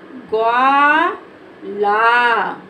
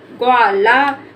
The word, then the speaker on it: ग्वाला: क्या पढ़ेंगे ग्वाला क्योंकि इसके उच्चारण में ज्यादा समय नहीं होगा और इसमें आ साउंड का उच्चारण नहीं होगा तो इसको पढ़ेंगे ग्वा यानी कि आधा ग बोलेंगे और इसको वा व के साथ बोलेंगे गवाला तो ये हमारा हो गया ग्वाला इसको गवाला नहीं पढ़ेंगे क्योंकि इसको हम अगर